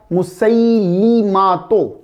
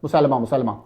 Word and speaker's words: مسیلمۃ: مسیلمۃ۔ لام کے نیچے زیر ہے، ہم تیزی سے لام کو ساکن پڑ جاتے ہیں، مسلمہ۔ مسیلمۃ۔ حضور صلی اللہ علیہ